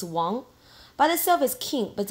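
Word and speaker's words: 王: next one is Wong please do not pronounce his Wanga it's Wong by the service King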